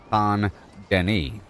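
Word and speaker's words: Saint Denis: But you know it's pronounced ton deni like s a n d e n y or d e n i you know you don't pronounce the s.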